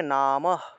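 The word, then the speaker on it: নমঃ: বিসর্গের উচ্চারণটা মূলত হ রূপে হয়ে থাকে সংস্কৃতে। তা আমরা যদি এখানে কোনো একটা লাইনের মাঝখানে যদি বিসর্গ পেয়ে থাকি, সেই ক্ষেত্রে সেই হয়ের উচ্চারণটা মূলত হসন্ত রূপে হয়ে থাকে। তাহলে উচ্চারণটা হবে নামঃ, নামঃ,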